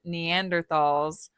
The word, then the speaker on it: Neanderthal: is our species, and Neanderthals were on the scene. And I want to point out, I know that it is pronounced Neanderthal. That's the technical pronunciation for Neanderthal. It's Neanderthal.